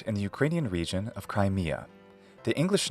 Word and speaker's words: Crimea: kind of change now I don't recommend accenting the first syllable as some do so not Crimea but Crimea also there's no need